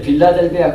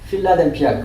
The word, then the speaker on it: 필라델피아: 원래 빌라델비아 그러면 안 돼. 발음도 필라델피아 그래야 돼. 맞아요.